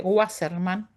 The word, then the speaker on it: Wasserman: Hay una autora que se llama Wasserman, se escribe Wasserman, así como lo pronuncia con W, Wasserman, que trabaja sobre el estudio de casos.